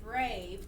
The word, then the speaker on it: brave: We have to write a silent E at the end of the word brave to make the A say its name.